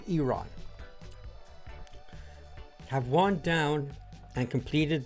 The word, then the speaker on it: Iran: It's pronounced Iron have won down and completed their progress final missions for 12 hours at which point the war will be considered ended officially.